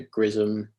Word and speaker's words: XRISM: So GRISM, which is spelled Xrism, is another mission that might be useful.